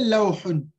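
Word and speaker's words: لوح: You can say lawhun, lawh.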